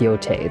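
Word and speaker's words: Yōtei: out there it's pronounced Yotei. Okay, it is pronounced Yote. They actually say it in the game, Yote. But I think it just sounds dumb, so I call it Yotai.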